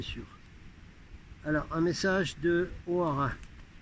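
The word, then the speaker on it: Hoara: Alors un message de O'Hara. Non, c'est pas un Irlandais, j'ai déjà dit, c'est un frère de l'espace qui communiquait avec Eugène Sergusa et qui s'écrit H-O-A-R-A.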